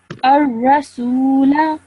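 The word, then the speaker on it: الرسولا: Same thing over here as the previous example. This vowel is a vowel madda because it is a vowel with a sukoon, and the letter before it has a dhamma. So you would elongate the sound for 2 seconds, okay? Join the alif straight to the ra. So ar-rasula, ar-rasula.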